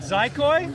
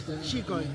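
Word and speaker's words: Xicoy: Is it Zykoi or Chikoi? Now in Catalan, it's a Catalan word, is Chikoi.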